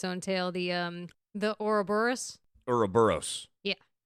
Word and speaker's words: Ouroboros: Ouroboros. Yeah. I always thought it was oro, like the O because it has an O, but that O is silent.